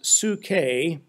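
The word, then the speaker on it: ψυχή: to you recently the Greek word which is pronounced sookay but in English it's translated as psyche P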